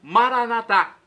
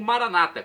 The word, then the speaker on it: Maranata: E agora do aramaico eu clamo, Maranatá, como dizemos nós católicos com a tônica na última sílaba, ou Maranata, como dizem os nossos irmãos separados, os evangélicos ou protestantes, com a tônica na penúltima sílaba.